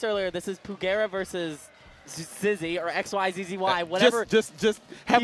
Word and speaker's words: XYZZY: I say Zizzy. Zizix? That is not Zizix.